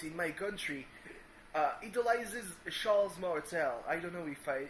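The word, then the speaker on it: Charles Martel: pronunciation in French because we don't pronounce the s's at the end of words but sh Martel who is the grandfather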